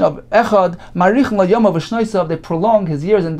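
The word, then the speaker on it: אחד: He should prolong the pronunciation of the word of the letter dalet, meaning he should not prolong the ches, but rather the dalet, as Rashi explains, if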